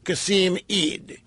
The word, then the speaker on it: Qasim Eid: His name is Qasim E-I-D. How would you pronounce that? Qasim Ed, Qasim Eid, Qasim Eid. How would you pronounce it? You'd go with Eid? All right, so we'll call him Qasim Eid in acknowledgement that we don't know how to pronounce it.